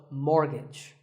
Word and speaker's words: mortgage: buy a house so which letter is silent here it's the T the first syllable is more and the second is gitch so mortgage number 27 is this